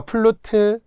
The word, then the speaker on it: 플루트: 근데 스탬프라든지 아까 플루트 또 티베트 있잖아요. 이걸 티벳이라고 하면 안 돼요. 플룻 안 돼요. 티벳 고원 안 돼요. 플루트, 티베트 이렇게 발음을 생각하면서 외우시고.